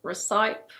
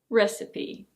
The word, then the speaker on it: recipe: It's not "re-saip" or "re-seep". It's: recipe. Recipe.